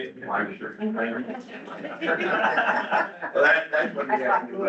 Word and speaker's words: Lancaster: It's not Lancaster. How you say it? Lancaster.